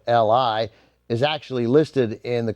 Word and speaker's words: Li: artist who looked vaguely like Bruce Lee. They changed his name from Ho Chong Tao to Bruce Lee, Li, altering the spelling, but not the pronunciation.